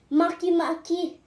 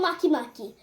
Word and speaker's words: Makemake: the other D planets Maki Maki it's spelled m a k e m a k e but I like to call it Maki Maki so do you